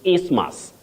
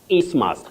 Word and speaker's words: isthmus: Then you have your third word, that is isthmus. Isthmus, not isthmus. That T and H is not or are not pronounced.